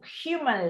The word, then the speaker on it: human: Imagine the earth devoid of human life, inhabited only by plants and animals. Remember that the H in English is a voiced consonant, unlike Spanish.